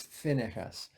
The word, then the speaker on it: Phinehas: So, in fact, some translations of the Bible pronounce it Phinehas, P-I-N-E-H-A-S. You might see it both ways. Usually it's Phinehas, who was of the priestly tribe.